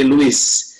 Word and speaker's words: Luis: Walaupun namanya kayak Prancis, tapi ini cara pengucapannya seperti orang Spanyol. Jadi Luis. Kalau cara pengucapan, ya Luis.